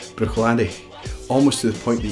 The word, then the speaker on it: Bruichladdich: would say boom or Bruichladdich now here we have the CH sound twice so we've got the hard pronunciation and then end we've got much softer pronunciation Bruichladdich almost to the point